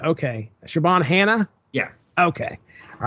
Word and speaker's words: Siobhan: So it's Siobhan. Oh, Siobhan. Okay. Siobhan Hannah?